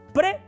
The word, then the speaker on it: prae: vez de decir prae aunque se escribe prae se pronuncia pre es como cuando decimos